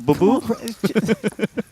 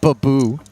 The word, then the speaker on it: Boo-Boo: A boo-boo? Okay, first off, it's boo-boo. Okay, all right? Not baboo.